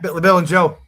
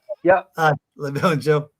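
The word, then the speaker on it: La Belle Angele: Been up a few times over the years, and the last time was La Belle Angel. And yeah. Am I pronouncing that right? Yeah, La Belle Angel. Yeah. La Belle Angel.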